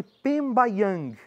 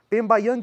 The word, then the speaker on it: pembayang: Nós temos a primeira parte chamada de Pembaang. Pembayang se escreve P e M B A Y A N G.